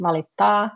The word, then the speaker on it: valittaa: Valita, just cut it short, the last R, and when it's valittaa, you say it a bit longer and try to pronounce T. Yeah, valittaa, like you're trying to say the T as a double and R as a double.